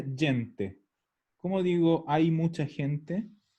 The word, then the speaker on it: gente: digo que en italiano gente se escribe igual aunque se pronuncia diente como digo hay mucha